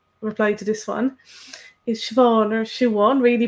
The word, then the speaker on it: Siobhán: becoming rarer and uh whereas the older generation some might still say shoe on and find siobhan a bit odd and so it does